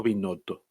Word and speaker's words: Binotto: ¿Binotto o Binotto? ¿Cómo se dice? Binotto. O sea, no es con ñ.